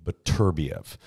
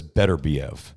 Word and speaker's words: Beterbiev: names and pronunciations and he told me beterbiev so that's what i say but most everyone says better be of yeah my friend says